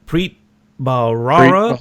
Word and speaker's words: Preet Bharara: bahara how do you say his name Preet Preet Bharara all right yeah haha yeah it took him